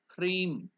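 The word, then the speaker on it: ह्रीं: is om cre so you have to correctly pronounce it h r e e m cre so that Mantra is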